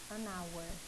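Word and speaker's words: hour: e aí oi gente não ouvir o som do h então a gente fala anauer tá porque por mais que tem esse h escrito aqui a gente não pronuncia e ch a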